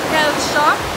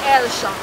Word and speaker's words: Hellshire: Now based on how Jamaican people always pronounce things bad, I guess it moved from Hellshire to Elsha, and so it got its name Hellshire Beach.